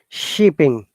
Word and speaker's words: shipping: not used for shipping not sip shop shipping stop shopping shipping shipping very good shipping one more